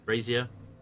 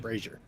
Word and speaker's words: brazier: Brazier. Thank you. Brazier. Of coals burning brightly. It's like Fraser, isn't it?